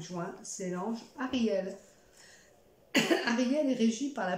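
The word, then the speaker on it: Hariel: Donc Ariel, pour ceux qui veulent, ça s'écrit H-A-R-I-E-L.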